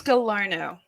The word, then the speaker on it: Gallarno: your last name oh it's gallarno you know it's french canadian yeah i really didn't